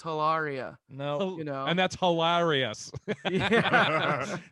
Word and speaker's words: Hilaria: Because Alec would even correct people when they would say her name wrong on interviews. He'd be like, no, it's Hilaria.